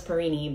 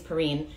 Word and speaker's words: Perrine: but mike perrine which i thought it was perrini but apparently it's perine i've been saying his name